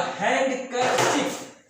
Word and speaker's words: handkerchief: Here the handkerchief. But remember, we should not pronounce the word D. Here we should not pronounce the word T. Handkerchief is the handkerchief.